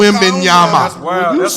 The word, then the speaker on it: Wembanyama: Old Victor Wembanyama.